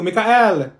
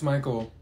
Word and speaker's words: Michael: she's beating rice you mean beatric thank you Mikel ma'am it's Michael okay what about ch is that you no